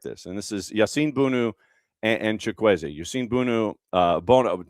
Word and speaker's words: Bounou: And this is Yassine Bounou and Chukwueze. Yassine Bounou, Bono. It's Bono technically, but it's spelled Bounou.